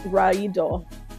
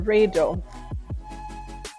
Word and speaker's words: Raido: And so what I got was, I like to pronounce it Raido or Raido. And Redo is a card about movement.